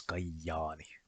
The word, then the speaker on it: Kajaani: And the double J is also kind of rare, only really exists in dialects, but for example, in the Kajaani dialect, the name of Kajaani is pronounced as Kajaani.